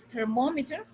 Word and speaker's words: thermometer: Mo is thermometer, yani the third syllable.